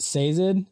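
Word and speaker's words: Sazed: a lot and uh is it seid is that how it's pronounced seid yes I loved him I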